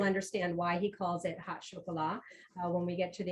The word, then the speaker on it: Hot Chocolat: chef, Michael Poole of Hot Chocolat, and that's how you pronounce that. It's not, you're not going to find any hot chocolate in this place. I've already tried, trust me. It's Hot Chocolat, and you'll understand why